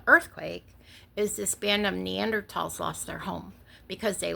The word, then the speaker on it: Neanderthal: And the German language does not have a TH sound, like thal.